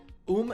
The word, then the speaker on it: um: You don't actually pronounce the M. So, um is um or uma.